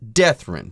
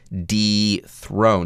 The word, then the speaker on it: dethrone: the prefix de dethrone you don't run the pronunciation together and say something silly like death-room no here would be d throne now what does it